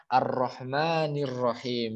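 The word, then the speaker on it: الرحمن الرحيم: Maka bacanya Ar-Rahmanir Rahim. Langsung hamzahnya tidak dibaca.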